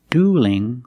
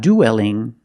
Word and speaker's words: dueling: they shouldn't duel so see the difference dual with a dark L and dueling with a light l because the L is between vowels and the word dueling and it's not dwelling don't pronounce that e